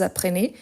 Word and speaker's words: apprenez: Apprenez, comme s'il y avait un accent aigu.